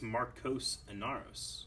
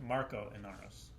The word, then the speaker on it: Marco Inaros: I think it's Marcos Inaros. No, it's Marco Inaros. The S is silent. There's no S.